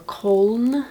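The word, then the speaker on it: Köln: anyone is gonna be in cologne or Colm I'm told it's pronounced in Germany I will be there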